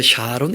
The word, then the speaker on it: 사론: 샤론 개가 있는 것이오 그러니까 사론 이라고 되어 있는데 그 사본이 원래 오른 바람입니다 우리가 그냥 4로 많은 얘기 숫자 나가지고 좀 이 여름이 좀 좋게 되자 샤론 이렇게 이제 발음을 하는 것이고 원래 발음은 4룸 평양이 사람 중략 그런데 뭐 아무리 발음 해봐도 부산 사러 온 교회가 이상하더라 그래서 우리가 회원 빠른 부드럽게 하려고 그냥 샤론 교회 좀 예쁘게 바람을 하는건데 원래는 사론 입니다 바로 이사로 4 뭐가